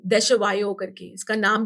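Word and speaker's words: Desjoyaux: तो मुझे ये स्विमिंग पूल कंपनी थी देशवायो करके, इसका नाम भी प्रोनाउंस करना बहुत मुश्किल है। इट्स DESJYAUX, ओके, है ना? ठीक है, हाँ, समझा नहीं बट ठीक है। देशवायो, इट्स अ हाँ।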